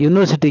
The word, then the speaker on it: university: University that gives the sound Y. Here the word university gives the sound U. That is Y u sound. Y is consonant sound.